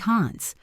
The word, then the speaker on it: hands: The word hands sounds like Hans. Put your hands up. Put your hands up. If you try to pronounce the D in hands up, you will stop your flow.